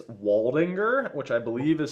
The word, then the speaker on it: Waldinger: It's Waldinger, which I believe is spelled Waldinger.